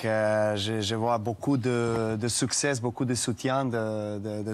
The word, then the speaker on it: succès: Tu vois ici, il a dit beaucoup de success, il prononce le s mais on doit dire beaucoup de succès. Beaucoup de succès. Tu ne prononces pas le S à la fin, c'est une consonne muette.